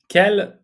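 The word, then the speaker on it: quel: Which means when which is where which is why which is how many kel or kel all four forms have slightly different spellings but uh they're all pronounced in exactly the same way and that translates as which in English.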